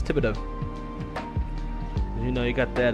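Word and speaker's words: Thibodaux: at all right here you go oh Tibido that's what TBD is t h i b o d a ux a lot of think a lot of folks think it's uh pronounced Fido but it's Tibido you know you got that uh cage and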